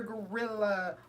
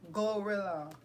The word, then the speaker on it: GloRilla: No, ain't nobody want to hear Gorilla all the time, even though her name is pronounced Glorilla.